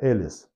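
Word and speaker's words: Alice: Кто-то мне говорит, что ты несешь, не Элис, а Алиса. Алиса, это она будет у вас в России. А здесь она Элис, потому что это имя читается как Элис, а не Алиса или Алите.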